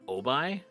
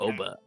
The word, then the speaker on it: Oba: they called her like, I don't know if they called her Obai or Oba. I think I forget. In the dub, it was Oba. Was it Oba? Yeah. Okay. That's how it's spelled too. OBA.